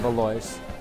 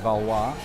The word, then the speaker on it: Valois: park community at valois everyone calls it baloy's i believe the french proper way to say it is valois but i i've probably heard one out of a hundred thousand people say it that way straight off the